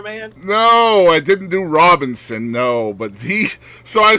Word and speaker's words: Robinson: No, I said Robison instead of Robinson. Oh, okay. Well, at least you didn't throw an N in there, man. No, I didn't do Robinson, no.